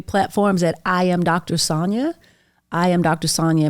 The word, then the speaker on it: Sonja: at I am Dr Sonia I am Dr Sonia my name's spelled with a J by the way so s o NJ um or go to